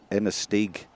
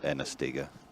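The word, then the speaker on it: Inistioge: And someone else, Lucy's telling me it's Inastig, not Inastiga.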